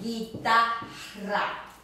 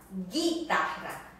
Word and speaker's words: guitarra: Also, when it comes after a G in these combinations, you and I, as in the word guitarra, the guitar, guitarra. Now you don't hear the U in here.